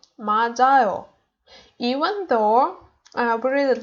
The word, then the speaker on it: 맞아요: Here it's j, 맞아요.